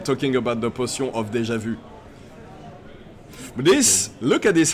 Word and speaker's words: déjà vu: potion de déjà vu, obviously. I mean, you are the proper person to pronounce it correctly.